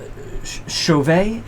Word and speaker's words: Chauvet: turn think of how you say it correctly Chauvet Chauvet Chauvet Chauvet DJ this is a Monstress